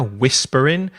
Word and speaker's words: whispering: want to read we've got Whispering so a silent h there Whispering it might help if